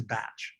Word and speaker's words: Bach: heard in the video, they refer to him as Dr. Bach. He was actually Welsh, not German descent. So the Welsh pronunciation is Bach. I generally refer to the remedies as the Bach Flower Remedies because most